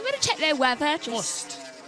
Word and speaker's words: Most: Most. It's M-O-S-T. Mo. It's either moist or most or moist. There's many different pronunciations. Okay. Moist is the widely accepted one.